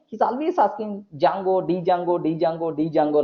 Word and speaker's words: Django: is there the jungle but the DNA silent most of the people are going to pronounce Django Jango Jango that's all not genre okay like next turn